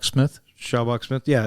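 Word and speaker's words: Schwalbach: How do you pronounce it? Jen Schaumbach Smith. Schaumbach Smith.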